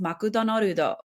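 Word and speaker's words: マクドナルド: For example, McDonald's is pronounced makudonorudo, and that would be written in katakana, not hiragana, because it's a word that's non-Japanese in tradition.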